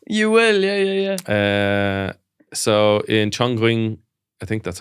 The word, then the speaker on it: Chongqing: So in Chongqing, I think that's how you say it. Chongqing in China, every Friday and Saturday morning, hundreds